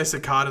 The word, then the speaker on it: Sakata: the exact same way I say Sakata the same way as Paigey as if it rhymes with other similar words like Granada and Armada yeah Camp Granada is